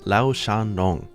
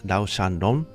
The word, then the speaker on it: Lao-Shan Lung: I believe this is a Chinese pronunciation. It might have a little bit of a twist to it, obviously, because it's Japanese, the way that they're reading it.